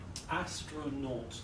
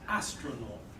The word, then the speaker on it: astronaut: you write the word astronaut three syllables where's the stress the controls the beginning yeah astronaut astronaut good okay now what